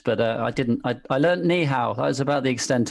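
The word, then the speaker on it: 你好: I learned ni hao. That was about the extent of my Chinese. Very good, very accurate, good pronunciation.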